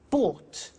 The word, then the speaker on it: bought: to the pronunciation by bought you notice that o u g HT is pronounced ought buy bought come came